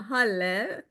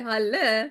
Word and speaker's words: Hal: space I am a Hal pronounced like Hallelujah says H uh thank you for the say hallelujah right that makes it easy for people to remember when you say Hal like Hallelujah uh so